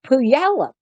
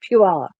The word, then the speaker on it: Puyallup: You know, we have Puyallup, but it's spelled Puyallup. So when you look at it, you think Puyallup, but for some reason they move that Y and the U, and it becomes Puyallup.